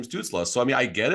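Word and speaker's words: Stützle: But a name like Tim Stutzel, who knows? It's Tim Stutzla.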